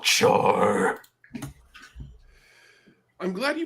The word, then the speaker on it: Char: And the Dean of Fabrication, definitely not Char. I'm glad you pronounced it right.